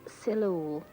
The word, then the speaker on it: Solihull: hillian's campaign refers to the local pronunciation of solihull as being celula this is the